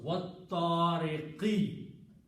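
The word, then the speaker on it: وَالطَّارِقْ: Whatever is the harkat, in this case it is kasra, this harkat changes into a sukoon. Okay, so the pronunciation will be wattariq.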